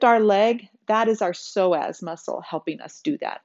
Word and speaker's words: psoas: word psoas is spelled p-s-o-a-s so the p is silent it's pronounced psoas muscle